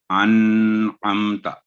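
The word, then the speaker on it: أَنْعَمْتَ: اس کے بعد انعمتا، تو یہاں بھی انعمتا یعنی نون ساکن کی آواز لمبی کرنے کا جو رول ہے اخفاء کا اور اظہار کا.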